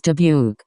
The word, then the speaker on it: Dubuque: The town is Debuke. Pronounced roughly W K.